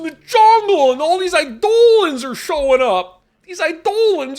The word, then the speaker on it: Eidolon: iore sounds dumb yeah it's like Idol it's not pronounced ion it's pronounced idolan oh it's an idolan